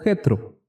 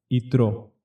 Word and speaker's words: Itró: lo conocimos en nuestras biblias en español como metro sin embargo en hebreo se pronuncia otro y es así como se titula está para